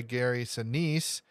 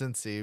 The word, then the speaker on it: Gary Sinise: Lieutenant Dan is played by Gary Sinise, not pronounced Cincy, because I always forget there's an I in his name.